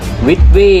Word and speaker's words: VIDVIE: ลำโพง นะ ครับ หลาย คน อาจ จะ งง ว่า มัน อ่าน ว่า อะไร เนาะ เดี๋ยว ผม อ่าน ให้ ฟัง มัน คือ ลำโพง วิทวี่ ครับ ผม นะ ครับ เป็น ลำโพง